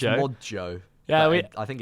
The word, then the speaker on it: Modjo: It's Modjo. Yeah, I think it's meant to be pronounced Mojo.